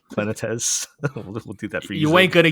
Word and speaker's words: Planetes: How are we pronouncing it now? Planetes. Planetes.